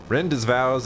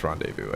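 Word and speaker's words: rendezvous: get out of here rend's vows at Sector 8 station split up and get on the train I know it's Rondevu I just that's not how you pronounce that H if it's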